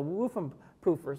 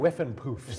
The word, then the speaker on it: Whiffenpoofs: And then you have Blondie and Cyndi Lauper played with the Woofenpoofers. Did I say that name? The Woofenpuffs. Woofenpuffs. I apologize. This is the Cleveland. Whiffenpoofs.